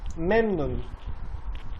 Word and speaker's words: memnun: the main thing about this this pronunciation is the stress. If you stress it correctly, you can easily pronounce it. The stress starts Memnun. in the first syllables. Memnun.